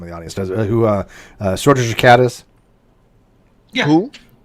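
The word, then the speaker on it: Schrödinger: Schrodinger's cat. Oh, yeah, because you're fucking really, really white, Steve, and so you say it's Schrodinger instead of Schrodinger, which is the way it should be pronounced.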